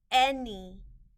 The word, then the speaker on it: any: this word is boy the a in this word is making a short e sound e and the y in this word is a part of the sound spelling patterns that y at the end of a two-syllable word makes an e sound any grow the o